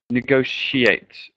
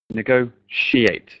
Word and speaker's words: negotiate: And yeah, just one last thing on that word negotiate. Okay. It's a sh sound. Negotiate. Negotiate. Okay, I think that's about it for this lesson.